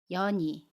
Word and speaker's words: 연이: 볼게요 이서현 이에요 해서 연인은 연이 라고 발음합니다 연이 연애 받침이 은 뒤에 모음이 오면 아침 이은의 이응 자리로 가서 연이 라고 받음 해요 연음 입니다 연이 문장으로 볼게요 저는